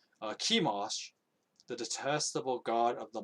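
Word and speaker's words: Chemosh: a high place for i think it's pronounced shimosh or no sorry no it would be kimos because the ch would be pronounced as a k kimash the detestable god of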